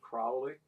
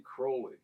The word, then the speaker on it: Crowley: name gets mispronounced as Crowley. And it should be Crowley, because he changed it from Crowley to Crowley because he wanted his name to rhyme with holy and not with folly.